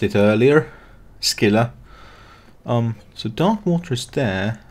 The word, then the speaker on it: Scylla: As I fucking mispronounced it earlier. Scylla.